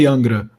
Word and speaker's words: Angra: fan of Angra Angra I don't know how you guys would pronounce so here we say Angra but they are really